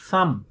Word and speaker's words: thumb: Third sound, initial, think, three, thumb. Thumb, ब is silent.